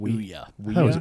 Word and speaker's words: Ouya: you say that console Oya weya Oya Oya I always heard it pronounced Ouya Ouya yeah whatever it was all the journalists pronounced it Uya it was a failure